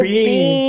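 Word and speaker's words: Biehn: not Michael Bear Michael Bean Bean Bear Michael Bean sorry that's how you pronounce that now Michael Bean Bean he's been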